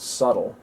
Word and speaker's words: Suttle: william suttles some of his descendants drop the final s of the name and pronounce it subtle uh there's one branch